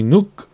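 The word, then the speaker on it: Nuuk: capital and largest city nuke actually I've heard that pronounce and it's not really nuke it's like Nuke or I can't I'm not going to pretend which lies on Greenland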